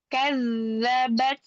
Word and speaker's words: كذبت: Hati-hati di sukun pada huruf zal, dialirkan rokhah ya. Kadzabat.